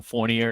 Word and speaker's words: Fournier: or my last name so Fournier is how I say it yes you got it